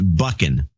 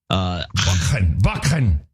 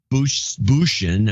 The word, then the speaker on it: Buchan: It's Scottish, so it's a bit of throaty Dutch-German. Buchan. Oh, that sounds Scottish. Buchan. Not Bushin, as my English cousins tend to say.